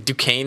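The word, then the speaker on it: Duquesne: I'm taking Wagner to win and cover because Wagner played I think it's Dukane is how you say it.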